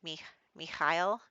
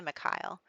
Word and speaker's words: Mikhail: it in my head i looked it up and it was like me me kyle but um i'm not going to say it like that every time i'm just going to say whatever comes to mind so i'm sorry in advance for people who know that i'm mispronouncing that and just need to accept it maybe i'll say my kyle we'll go with an